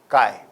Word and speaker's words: chi: denoted as Kai Square where Kai is a Greek L and I'm sure you know it can be pronounced as Kai properties of this Kai